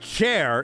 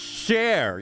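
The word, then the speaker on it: Cher: You see, River, it's not pronounced chair. It's pronounced share.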